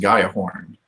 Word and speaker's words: Gjallarhorn: how to pronounce it, Gjallarhorn? I think it's pronounced Gaiahorn.